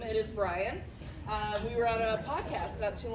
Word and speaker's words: Bryon: And the first time I met him, I called him Byron, so that is not how you pronounce his name. It is Bryon.